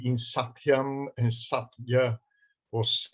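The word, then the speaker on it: सत्य: Well, Ashina, can you go back and just pronounce the word satya again? Satya. Satya. Yeah. It is almost not a double, but it is. There is something there.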